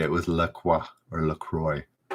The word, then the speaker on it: La Croix: girl gets it no it's not perrier it's la croix it's pronounced lacroix right lacroix lacroix oh it's saying